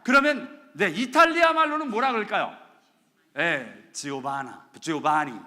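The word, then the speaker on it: Giovanni: 지오바니 뭐 이러는데 한국 사람들은 이렇게 적어놨더라고요. 조반니. 영어로 여자 이름은 조반나. 근데 워낙 발음은 지오바니라고 이야기한답니다. 지오바니.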